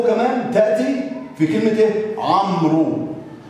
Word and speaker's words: عمرو: عمرو. عمرو، ما قالش رواء، ما نطقش الواو، لكن كتبت.